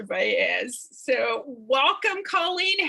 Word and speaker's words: Valles: And yes, because people always ask, as did I, it is pronounced Valles.